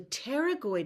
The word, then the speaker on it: pterygoid: But I've come to really believe that the pterygoid muscle, I love that word, it's like pterodactyl with a silent P, you gotta love it.